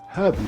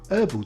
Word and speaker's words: herbal: Brits drink herbal tea and Americans prefer herbal tea.